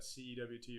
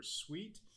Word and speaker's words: CEWT: education and workforce journey we pronounced that CWT or suite here at Idaho State